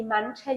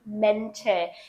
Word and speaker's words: Mäntel: You don't say die Mantel, you say die Mäntel.